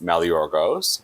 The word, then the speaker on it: Maligeorgos: So everyone asks me this all the time, and the correct way is Maligeorgos, but I've spent most of my life with the anglicized version being pretty familiarized with everyone, and that's Maligeorgos.